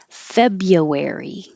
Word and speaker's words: February: what's the plan stan february don't need to say that r at all fabia february january july